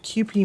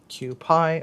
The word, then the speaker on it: Kewpie: Now, we're going to take just a little smidgen of QP mayo or Kewpie, however you want to pronounce it. I've heard it pronounced both ways. Kewpie or QP.